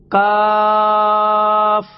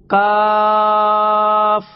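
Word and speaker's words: كاف: pronounced from the root of the tongue, touching the hard part of the palate. Kaf, zabar, ka. Kaf, zabar, ka.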